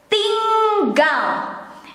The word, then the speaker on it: tinggal: one is now is ting gao and i will keep repeating this how to pronounce the nng um it is the same when you have to pronounce ringing singing the um there the